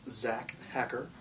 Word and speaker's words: Zac Hacker: to pronounce your name why don't you spell it for them okay it's Zack hacker and it's z acha cker there you go check